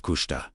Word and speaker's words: Kushta: This is the profound invitation hidden inside Kushta, pronounced Kushta, meaning truth or that which is real.